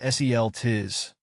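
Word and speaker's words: Celtis: help you master it celus pronounced seel TI is the genus name oxident Alis pronounced o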